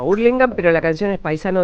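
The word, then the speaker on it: Hurlingham: Bueno, quiero decirles, escuchando paisano de ustedes, ¿cómo pronuncian? Urlingham, Urlingham o Herlingham. No, Urlingham, pero la canción es paisano de Urlingham.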